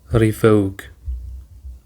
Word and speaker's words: revoke: Revoke. Revoke includes two syllables re and vogue. And the stress is on the second syllable revoke.